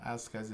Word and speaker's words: iSCSI: Why are you saying iSCSI when it says I S C S I E? Yeah, it is iSCSI. S C. Yeah, that's That's That's how you say it.